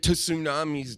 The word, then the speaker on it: tsunami: Why are tsunamis daft? And you got to say it with the T in front.